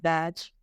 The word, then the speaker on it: daji: La pronunciación es Dutch.